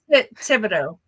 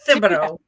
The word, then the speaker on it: Thibodeau: Thibodeau, not Thibodeau.